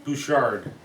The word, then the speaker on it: Buschard: How do you pronounce your last name? Buschard.